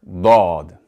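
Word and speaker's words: ضَ: Therefore, when we pronounce the letter dad with a fatha, we're going to pronounce it more like da, similar to the English word dawn, because the dad is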